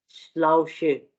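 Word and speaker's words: Schule: जो है, ठीक है, श्लाउशे, ठीक है, इसमें भी हम जो है वो शाह प्रोनाउंस कर रहे हैं। इसी तरह से शूल, ठीक है, शूल शाह प्रोनाउंस कर रहे हैं, ठीक है।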